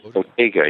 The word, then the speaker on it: bottega: Bottega, is that how you pronounce it? Bottega, yes.